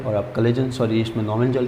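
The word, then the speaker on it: Knoevenagel: इसके अंदर एक तो है बेंजोइन संघनन, दूसरा है एल्डोल संघनन, तीसरा है परकिन संघनन, और चौथा है नोवेंजल। ये है ना, के साइलेंट रहेगा इसमें, नोवेंजल, नोवेंजल।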